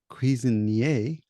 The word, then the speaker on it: Cuisinier: I'm and having a conversation with Stef Cuisinier, or Cuisinier, but in French it's Cuisinier.